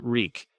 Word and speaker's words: Reek: my lord your man I'm reek it rhymes with sneak it does when my